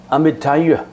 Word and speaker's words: Amitāyus: 寿怎么念呢？是阿弥陀月。